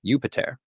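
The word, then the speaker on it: Iuppiter: In Latin, his name would have been pronounced something like Jupiter.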